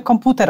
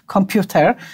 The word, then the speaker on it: komputer: Wymawiamy komputer, a nie computer, to nie odczuwamy tego,